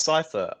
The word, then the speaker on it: Psithur: And you're like, "Cipher." It's spelt Psithur, which is ridiculous.